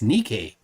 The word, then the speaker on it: Niki: my name properly Hint it sounds like knee K emphasis on the last one all right so it's not Nike it's Niki spits never forget